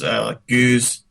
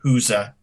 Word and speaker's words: Gueuze: Yeah, there's at least a couple ways that people pronounce it. One is Gueuze, and another sounds at least something like a Huza. And I've heard both of those pronunciations.